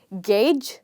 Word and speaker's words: gauge: where not to stress so you would simply say gauge the same way you say game okay so what do